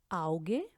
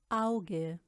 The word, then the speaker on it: Auge: अब हम बात करने लगे हैं आ ऊ और ए ऊ की। Zum Beispiel Auge, Auge, Haus, Haus, Au, na,